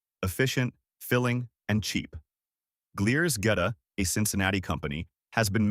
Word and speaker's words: goetta: Goetta, pronounced get-uh, is a sausage patty made from coarsely ground pork, steel-cut oats, onions, and seasonings.